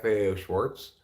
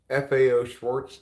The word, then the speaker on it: Schwarz: remember it as such if it's still pronounced Schwarz but the t is not there and that to me